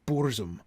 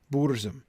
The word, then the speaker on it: burzum: a long u bours it's really hard not to stress that boors boor is just you know you can't swallow bores right you're spitting that out right um yeah burst is a syllable that's going out not in so i gotta